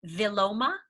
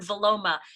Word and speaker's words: Vilomah: And there is a word that I have come across called viloma, and it's spelled Vilomah.